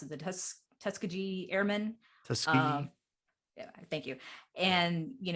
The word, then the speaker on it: Tuskegee: And he really goes on to tell the history about how these men were, part of the, how do you pronounce it? The Tuskegee Airmen. Tuskegee.